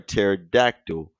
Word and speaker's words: pterodactyl: can't you hear a pterodactyl going outside the bathroom going uh going to the bathroom well can't you hear a terod doctor going to the bathroom is because the p is silent because you know when